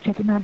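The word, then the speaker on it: Chettinad: Shruthi Kasthuri is a BDS from Chetinad Dental College. Ma'am, am I pronouncing the name right? Yeah, I am a graduate from Chetinad Dental College.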